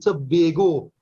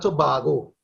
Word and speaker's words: Tobago: Is the first foreigner I've heard pronounce the word Tobago and not Tobago.